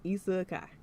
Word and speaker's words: isekai: like okay okay I like it yes sir EA Kai pronunciation now on point oh awesome thank you thank